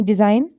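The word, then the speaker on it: design: पहले आता है यानी डिजाइन अच्छा एग्जांपल्स देखें इसके डिजाइन अलाइन शंपान फॉरन एन साइन इसमें देखें तो जहां जहां भी जी एन से पहले आया है वह साइलेंट होगा नेक्स्ट आ जाता है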